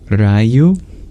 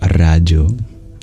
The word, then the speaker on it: rāju: thank you is it rayu is the J pronounced more like a like a y y is it rayu option one or Raju option two is it a palor